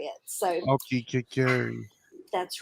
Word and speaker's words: Aokigahara: It's the Aokigahara Forest. There you go. That's Is the that one. how you pronounce it?